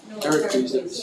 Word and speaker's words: Heracles: That's how you pronounce it. Heracles.